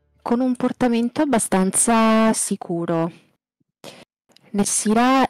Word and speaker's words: Nessira: Si chiama Nessira o Nessira? Qual è l'accento? Nessira.